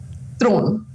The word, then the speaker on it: Theron: So can we hear the real pronunciation? Thron.